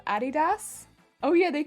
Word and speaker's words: Adidas: The way Americans pronounce Adidas? Oh yeah, they call it Adidas, right?